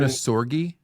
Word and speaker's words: Ohnesorge: your last name onori so it's actually German like the German onori yep the German pronunciation is onori and it means without worry so no worries hakun